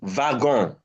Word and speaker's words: wagon: Then this is wagon. Wagon. The next word is Wagon. wagon. Yes. Why is it wagon? It is borrowed from German. And in German language, W is pronounced as V.